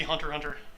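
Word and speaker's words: Hunter × Hunter: hawk it's just holic because in japanese x it's kind of like the mathematical unknowns it's like where we would use blank space so yeah it should just be hunter hunter yeah bradford walker says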